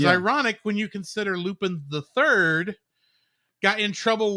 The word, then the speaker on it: Lupin: So that's why they always have to call him, pronounce his name in the Japanese way of Lupin instead of Lupin, as is a little easier to see.